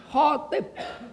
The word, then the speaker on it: khatib: Jadi kalau ngumumin khotib Jumat hari ini khotib. Bukan khatib. Kalau katib sekretaris. Katib pakai kaf. Itu sekretaris.